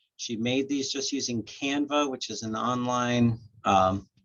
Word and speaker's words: Canva: uh oh yeah it's canva c-a-n-v-a B is in Mr a canva yeah like like an artist canvas but it's canva okay thank you um